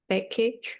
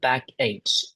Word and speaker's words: backache: So, how did I pronounce the word uh backache and school? It's not back H, it's back ache. It's K, not CH.